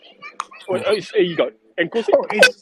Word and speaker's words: Nkosi: But you're Thank you. supposed to have a click. Here you go, Nkosi.